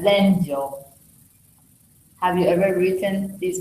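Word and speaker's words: 禅定: In Japanese, this is how they write it, which is pronounced as Zenjo.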